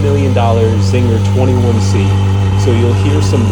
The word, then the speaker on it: Czinger: Today we're going to talk about the 4-year-old California startup car company, Czinger, which claims to produce the most technologically advanced hypercar. The C in Czinger is silent.